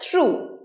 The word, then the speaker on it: threw: এর past tense থ্রু, থ্রু। আমরা থ্রিউ বলি, থ্রিউ ইজ দ্য wrong pronunciation, থ্রু।